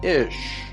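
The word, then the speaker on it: איש: Isha, comes from the Hebrew word for man, Ish.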